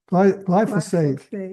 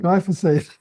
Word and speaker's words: glyphosate: Glyphosate, Glyphosate.